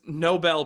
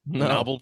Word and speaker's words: Nobel: oh my God Robbie she mispronounces Nobel Prize did you guys catch this Noel prize yeah she goes you turn